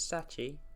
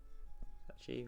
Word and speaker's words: Sachi: Well, as you know, my name is Sachi. Apparently that sort of rhymes with room 3. Sachi, room 3.